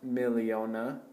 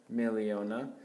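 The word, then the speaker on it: miliona: this is pronounced a a million is pronounced milliona milliona billion is pronounced pona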